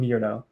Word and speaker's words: Mierlo: How do I pronounce it? Mlo. It's actually Mirllo.